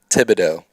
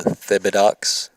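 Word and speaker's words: Thibodaux: A few of my Texas friends have called Thibodeau Thibodeaux, which is incorrect. EAUX. It's O, like go Tigers for LSU. There's the Atchafalaya River.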